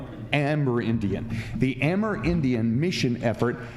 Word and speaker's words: Amerindian: headed up the air i always say amerindian but you pronounce it differently amber indian the amer indian mission